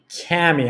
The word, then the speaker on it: Kami: Kami. I'm so sorry. Like it's not. That's okay. It's like Tammy, but with a K. Got it. Yeah, I'm from like Eastern Asia, and so we pronounce that Kami.